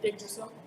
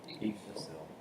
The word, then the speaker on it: Yggdrasil: Yggdrasil. Yggdrasil.